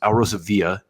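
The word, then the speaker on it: Alrosa Villa: Villa nightclub in Columbus Al Rosa Villa if you're pronouncing Spanish correctly greenos Columbus Ohio United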